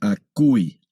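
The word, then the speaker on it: ἀκούει: Ese diptongo es legi y aquí acui.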